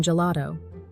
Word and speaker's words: gelato: behaves similarly to see when followed by e or i g is soft and sounds like J as in gelato everyone's favorite Italian ice